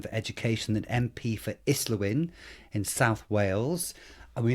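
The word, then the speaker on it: Islwyn: Neil Kinnick, who's shadow spokesman for education and MP for Islawin in South Wales. And we know that's pronounced correctly because we looked it up actually.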